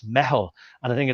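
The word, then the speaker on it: meitheal: to be Irish there it's not Emmy well it's spelled m-e-i-t-h-a-l I thought it was mythal or methyl and it's kind of thing what's that but it's it's metal and I think it's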